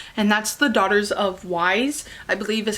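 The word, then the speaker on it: Ys: that's The Daughters of Wise, I believe is how you pronounce it. I'm thinking like Wise, like W-I-S-E, but it's Y-S.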